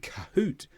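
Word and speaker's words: cahoots: pronounce the H sound, and cahoot, AHO, pronounce the in these words.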